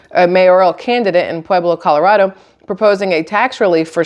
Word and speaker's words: Colorado: In Cannon City, Colorado, or Colorado, I think that's how you're supposed to say it. You're supposed to really pronounce that A.